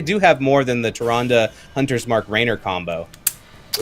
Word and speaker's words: Tyrande: Tyrande is how I like to pronounce it.